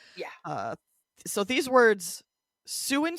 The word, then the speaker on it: Sault: they are not related both do come from French hence all of the letters we don't pronounce uh the word for